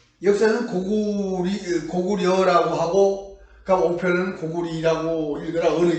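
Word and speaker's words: 高句麗: 그런데 지금 자전을 보면은 분명히 나라 이름으로 할 때는 니로 읽어라 이렇게 되어 있습니다. 그러면 역사를 배울 때는 역사는 고구려라고 하고 그러니까 오편은 고구리라고 읽어라 어느 게 맞겠습니까?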